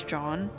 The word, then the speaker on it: Jeanne: I think it's John. Extras. There we go. It says Jeanne, but that's not how you pronounce it.